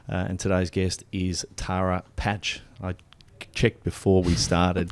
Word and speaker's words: Paatsch: by Ben Kemp and today's guest is Tara patch I checked before we started Tara that uh